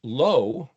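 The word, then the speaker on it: לא: Lommed alf is pronounced low.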